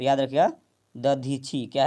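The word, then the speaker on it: दधीचि: वासुदेव, दीधीची, क्या है, दीधीची, कपिल, नारद। तो देवताओं के राजा का वज्र किसकी हड्डियों से बना है, तो याद रखिएगा दधीची, क्या है, दधीची, याद रखिएगा, थोड़ा सा प्रोनाउंस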